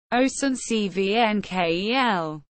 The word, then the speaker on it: Oestrich-Winkel: Oestrich-Winkel, German pronunciation, Oestrich-Winkel, is a town with roughly 12,000 inhabitants in the Rheingau-Taunus-Kreis in the Regierungsbezirk of Darmstadt in Hesse, Germany.